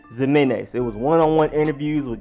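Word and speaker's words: Ximines: A lot of other languages pronounce it with Jimenez, but I'm going to go with the Zimenez, and he never corrected the people that said Zimenez.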